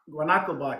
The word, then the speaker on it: GuanaBot: GuanaBot, yeah. Guanaco, like Quantico.